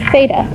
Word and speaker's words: theta: time it says cosine theta. Theta is spelled T-H-E-T-A. Theta, not theta with a S. That's a cheese. This is theta, okay?